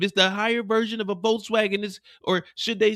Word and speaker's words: Volkswagen: Volkswagen is not Volkswagen. It's pronounced Volkswagen in German.